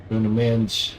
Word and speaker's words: Bruno: Bruno. That's how you pronounce it. Pronounce it in Portuguese.